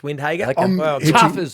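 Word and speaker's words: Windhager: so who was it again how do you pronounce his name that's it marcus windhagen i'm matching my caravan you go next duck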